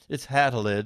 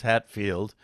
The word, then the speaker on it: Hattelid: It's Hattelid, and everybody says Hatfield. And if I spell it Hattelid, they say Hatelid, and I don't like that.